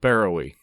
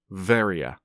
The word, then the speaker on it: Beroe: place that I'd called Beroe. In my defense, that's what it looks like to an English speaker, but it turns out it is in fact pronounced Veria, because it's Greek, and my first guess about Greek words is never right.